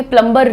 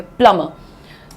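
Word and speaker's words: plumber: प्लमबर नहीं बोलेंगे। प्लमर so please call the प्लमर। There is a leakage in the washroom. प्लमर क्या है? प्लम म प्लमबर प्ल म प्ल म दैट्स इट।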